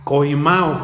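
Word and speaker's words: κοιμάω: duermen es de la es la palabra griega coimo con k coima con acento en la a esto quiere decir poner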